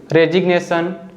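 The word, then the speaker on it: resignation: हैं जैसे कि सिग्नेचर रेजिग्नेशन और डेजिग्नेशन इन सभी वर्ड्स में जो लेटर जी है ना यह एन के पहले तो आ रहा है लेकिन फिर भी हम जी को बोल रहे हैं तो अब हम सीखेंगे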